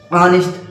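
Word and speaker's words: honest: अब देखिए यहाँ पे जो यच है ना, यच क्या है मेरे भाई? साइलेंट है। यच क्या है मेरे भाई? साइलेंट है। यच जो है साइलेंट है, इसलिए इसको क्या पढ़ा है? ऑनेस्ट।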